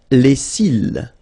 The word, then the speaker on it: les cils: Les cils. Les cils. Final S not pronounced.